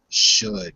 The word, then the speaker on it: should: The L is only said when it begins a word or a syllable. It's never said when it ends a word or ends a syllable.